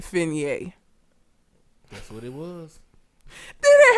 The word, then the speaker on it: Fine: fer like being fine her name is fine but she pronounces it fer that's what it was